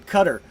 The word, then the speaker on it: Qatar: Qatar. Doha is the city, but Qatar is how you say it.